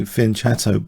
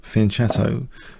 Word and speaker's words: fianchetto: Because I like to say fianchetto basically, and if you refer to the Oxford English Dictionary, there are two acceptable pronunciations of fianchetto: fianchetto and fianchetto.